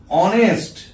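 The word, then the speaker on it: honest: বা ধরো অনেস্ট ম্যান, দেখো এখানেতে উচ্চারণটা কি হচ্ছে অনেস্ট, অনেস্ট।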